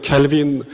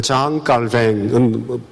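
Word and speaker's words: Jean Calvin: 그래서 우리가 잘 아는 그 개혁주의 신학자 켈빈, 한국에서는 요즘 그 원래 발음대로 발음을 꼭 해야 된다고 얘기를 합니다. 그래서 켈빈이라고 얘기하는 건 미국식 발음이고, 원래 장 깔뱅은 프랑스 사람이기 때문에 깔뱅이라고 표기를 해야 됩니다.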